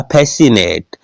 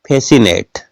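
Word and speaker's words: fascinate: बोलते हैं इसमें देखिएगा फेसिनेट तो सी का उच्चारण नहीं होता एस और आई का उच्चारण हुआ है फेसिनेट सी साइलेंट है इसमें देखिएगा डिसेंट एस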